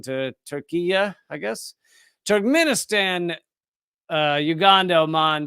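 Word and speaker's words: Türkiye: Sudan, Suriname, Syria, Saudi Arabia, Tajikistan, Togo, Tunisia, Turkey, which has changed the pronunciation to Turkiya, I guess.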